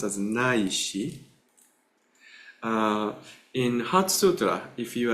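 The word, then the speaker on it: 乃至: This is pronounced as Naishi. In Heart Sutra, if you are reciting some of those days of the week in Sino-Japanese, there's a word Naishi.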